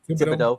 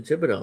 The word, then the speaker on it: Thibodeau: Even though it may have been a shock when originally when the Knicks fired Tom Thibodeau, or how do you pronounce his last name again? Thibodeau.